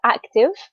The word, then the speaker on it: active: and active and see we don't pronounce the e at the end so active and then in the